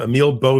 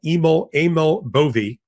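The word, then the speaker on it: Emil Bove: I've been calling him Emil Bo for the longest time, but apparently he corrected the record. He is Eml Aml Boie.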